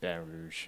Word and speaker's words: Baton Rouge: I just hear people say just Baton Rouge. Baton Rouge. Yeah, like the typical.